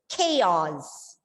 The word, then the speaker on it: chaos: Okay, the pronunciation of the word is chaos.